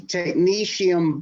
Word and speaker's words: Technetium: How do you spell that? T-E, I got to write it down. Technetium. All right, start over. Technetium.